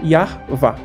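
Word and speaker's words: Yahweh: de Deus né mas ele tem uma pronúncia e essa pronúncia se você estudar como ele tem um livro explicando como que se pronuncia o nome dele seria yar vá né esse Deus yar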